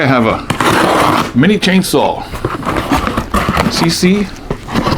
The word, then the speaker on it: Seesii: have a mini chainsaw CC I believe is pronounced think you see Sal right you're going to see a saw I'll unbox it show